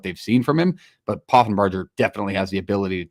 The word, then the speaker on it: Poffenbarger: Reese Poffenbarger. I think I said it right. Poffenbarger, thank you.